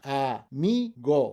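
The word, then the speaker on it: amigo: A mi go, friend. A mi go, right? Second to last, again, we end in a vowel, so the stress is on the second to last.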